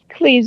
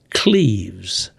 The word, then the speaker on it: Cleves: Cleves, Ohio. Cleves. And that's spelled with an I, though, right? No, it's Cleve. Oh, yes.